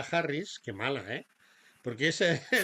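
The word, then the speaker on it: Kamala: votar a la señorita kemala Harris quemala eh Porque es creo que se pronuncia kemala No camala pues la señorita kemala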